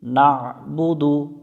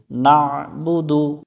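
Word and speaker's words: نَعْبُدُ: পেশবু দাল পেশ দু নাবুদু নাবুদু এখানে নাবুদু পড়া যাবে না এখানে অনেকজনে আমরা নাবুদু পড়ি এখানে আইনটা গলার মধ্য থেকে একটু চেপে উচ্চারণ করব নাবুদু ইয়াকা নাবুদু ওয়াও জবর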